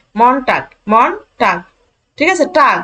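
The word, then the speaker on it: Montag: বুঝতে একটু সুবিধা হয় সোমবারকে বলা হয় মনটা মনটাক এই যে এম ও এন মনটাক মন টাক ঠিক আছে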